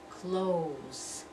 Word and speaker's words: clothes: It's not clothes. It's not two syllables. The we ignore that TH. That TH is not there. We hear that O sound.